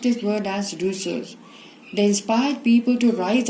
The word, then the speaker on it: Rousseau: Philosophers like Voltaire and Rousseau, we pronounce this word as Rousseau, they inspired people to rise against all forms of inequality, injustice and corruption.